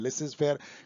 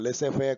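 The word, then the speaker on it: laissez-faire: लिसेज फेयर का pronunciation वो नहीं है जो मैं बोल रहा हूँ, लेसे फेयर कुछ ऐसा होगा, क्योंकि ये फ्रेंच है, इसमें पूरा नहीं बोला जाता है।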